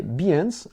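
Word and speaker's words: Behance: droit à ça profitez-en autre possibilité c'est d'utiliser bend alors bend alors ça s'écrit B e H a n c e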